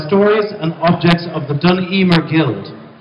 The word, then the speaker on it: Dun: and objects of the duner guild am I actually pronouncing that right duner duner duner Guild assciation thatan pronunciation is dun so um she has